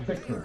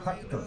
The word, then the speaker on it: Hector: His name is Hector. Not Victor, Hector.